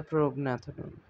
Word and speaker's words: Prognathodon: Pronounce Pronaphodon. The Prognathodon.